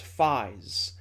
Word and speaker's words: Faiz: title is written out combinator 555 but it's pronounced Phi's the name of the writer is Phi's but 555 is what he enters on his